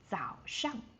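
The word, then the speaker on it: 早上: língchén sāndiǎn And, after we wake up, normally from like uh 6:00 or 7:00, we would say that is zǎoshang.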